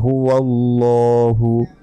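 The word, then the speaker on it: هُوَ اللَّهُ: এটা করা যাবে না, বলতে হবে কুল, কুল মোটা করে, কুল হুয়াল্লাহু, লতে 1 সেকেন্ড টেনে পড়তে হবে।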